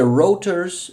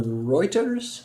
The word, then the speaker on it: Reuters: article by the way rotors or Reuters how do you pronounce this both actually okay take your pick on that one Raiders uh um